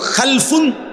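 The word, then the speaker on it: خَلْفٌ: উচ্চারণের মধ্যে একটু ভিন্নতা মাঝখানে একটা লাম আছে এই লামটার মধ্যে যদি সাকিন হয় তাইলে হল খালফুন আর যদি লামের মধ্যে জবর হয় তাহলে হল খালাফুন আরবি শব্দ খালফুন লামের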